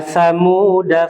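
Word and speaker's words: ثمودا: Contoh misalnya di halaman 85 ini diberikan contoh oleh penulis wa samuda fama. Ya, jadi kita melewati saja. Wa samuda fama. Ya, jadi alifnya itu karena ada sifrul mustadir, maka alifnya itu tidak dibaca.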